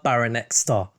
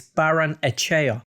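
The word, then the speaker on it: Barrenetxea: 2022 up next is socia dad winger ander baranek star and the correct pronunciation is baron echea and he is a very exciting player ander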